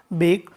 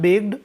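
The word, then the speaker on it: bark: बना हुआ है ये बेक। सेकेंड फॉर्म है बेक्ड और थर्ड फॉर्म भी क्या है बेक्ड। फिर देखिएगा हमारा जो नेक्स्ट वर्ड है बाक, है ना, इसमें आर जो रहता है साइलेंट रहता है।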